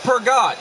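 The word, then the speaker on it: Peugeot: It's pronounced Pergot.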